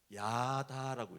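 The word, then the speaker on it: ידע: 앞에 이렇게 한번 보시면 이게 히브리어인데 야다라고 읽어요 야 다 히브리어는 거꾸로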